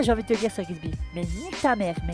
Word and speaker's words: Sir Gibsy: Je voulais parler de Sir Gibbsy. Excuse mec, c'est pas Sir Gibbsy, c'est Sir Gibbsy.